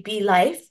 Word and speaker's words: Bliifee: So the pronunciation was still intended to be Blife. But because my brainstorming sheet was on my desk and my br little brother just picked it up and he's like, "What's Bliffy?" So I was like, that was not the intended pronunciation, but that sounds pretty cool. So that's how Bliffy came to be about.